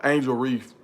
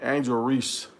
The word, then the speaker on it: Angel Reese: Reef they played uh Angel Reef or Angel Reese let me say her name right they played on the